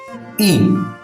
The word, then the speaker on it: い: Next letter is I which in Japanese is pronounced as E.